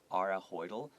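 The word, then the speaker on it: Are Høidal: and social skills and because this name is a norwegian name i think it's actually pronounced ara are ahoydl but as an american we would say r oh thinks these skills will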